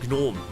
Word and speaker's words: gnome: The G is silent, right? Because in German it is not silent. It's a gnome.